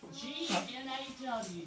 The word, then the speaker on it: gnaw: G-N-A-W. Do you remember what we said that was? Gnaw. Right. Circle the G, boys and girls, because it is silent. And the A-W says all. Not all.